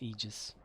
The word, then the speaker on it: aegis: those aegis things but i think the a is silent so it's aegis that's what i've been told anyway all the lands